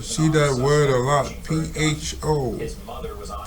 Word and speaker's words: pho: The officers at the time claimed that they thought he was see that word a lot, P-H-O, his mother was on pronounced pho.